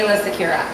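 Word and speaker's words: Aayla Secura: talking about Han Hans and different ways to pronounce it so aa aa how do you say I say AA Sakira AA Sakira yes that's the way I'm going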